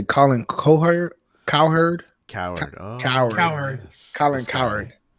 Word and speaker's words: Cowherd: Coward.